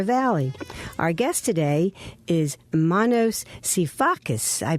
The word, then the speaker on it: Manos Sifakis: in the Delaware Valley Our Guest today is Manos sifakis I pronounced it correctly Manos you absolutely did okay